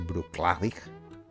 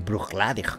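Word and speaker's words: Bruichladdich: en este en este Bruce clavic que se pronunciaría así Creo que por Charlotte y proclavic la chesa en gaelicos y supuestamente es la segunda sílaba O sea que sería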